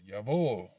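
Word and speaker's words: Jawohl: with a w so yavo yavo is not spelled with a y on the yacht it's spelled with a j vol is spelled with a w not with a v meaning yes indeed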